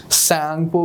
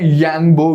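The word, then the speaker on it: Tsangpo: सैंगपो भी बोलते हैं, यांगबो भी बोलते हैं।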